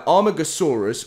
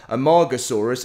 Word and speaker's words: Amargasaurus: new real world creatures including the armagosaurus or the amargasaurus i know some of you guys pronounce it a little bit differently um and obviously one